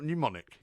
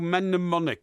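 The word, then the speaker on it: mnemonic: You see it's not pneumonic. No. Mennemonic.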